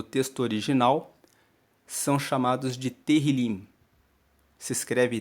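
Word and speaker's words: Tehilim: os salmos no texto original são chamados de terril se escreve t e h i l i m terril é o nome do livro de Salmos na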